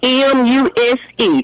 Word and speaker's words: Muse: My last name was M U S E. And when they call road, that's a who? What? But it's pronounced muse.